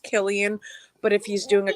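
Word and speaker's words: Cillian: villain in comic book I heard his name is pronounced Killian but if he's doing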